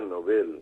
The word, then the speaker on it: Nobel: Pero en realidad el acento hay que ponerlo en la E, Está porque el hombre se llamó Nobel y se pronuncia Nobel.